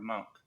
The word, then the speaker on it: Monek: you know, that's Nora Monk, is how she pronounces her name.